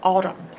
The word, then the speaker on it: autumn: the heart is that there is a silent end on the end of the word autumn all uh um all the rest of this is correct nothing strange about the rest of the word in Autumn this is the only strange part that you have to learn by heart is that silent end all uh um and